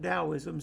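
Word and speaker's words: Taoism: Jesus uh amber says pronounced dosm spelled taism right that's exactly right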